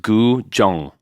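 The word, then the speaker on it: Guzheng: It is pronounced Gu Jong.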